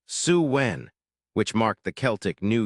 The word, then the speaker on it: Samhain: They celebrated sin, pronounced Suwen, which marked the Celtic New Year and meant summer's end.